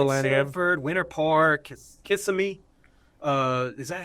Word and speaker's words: Kissimmee: Sanford, Winter Park, Kissimmee. Is that how you say it? I would say it like Yeah, that. kissing me. Say Kissimmee.